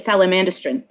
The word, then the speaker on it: Salamandastron: i started listening to salamandastron recently i just kind of picked one and i think pronounce it that's how they pronounce it in the audiobook so i'm going with it oh that's i we always said it sally mandistran what what i was